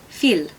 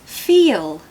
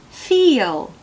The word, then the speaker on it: feel: feel okay feel now if you were to say it in a non-native way you'd say feel feel but that's not how we say it sorry we actually say it like this feel feel now can you hear that secret Y sound coming in just after the vowels it just pops in and helps you get to the L feel feel can you